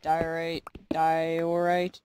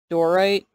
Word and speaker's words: diorite: This diorite, I said it right this time. Wow. I used to say dorite.